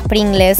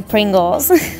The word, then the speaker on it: Pringles: Después estaban las famosísimas papas fritas Pringles, que en realidad no se dice así, se dice Pringles. La decimos mal nosotros los argentinos.